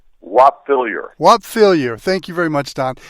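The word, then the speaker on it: Whop Philyor: And I hope I'm pronouncing it right. Whoop Philyor? Whop Fillier. Whop Fillier.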